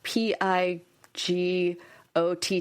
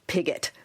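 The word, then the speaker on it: Pigott: I know someone whose last name is P I G O T T and it's Pigot. So, who knows? That's how she pronounces it. It's not go. It is Pigot.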